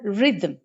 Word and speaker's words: rhythm: for example the word rhythm rhythm rhythm can be syllabified re and them rhythm in the second syllable our articulation directly comes to m after the and no vowel sound is here few more examples for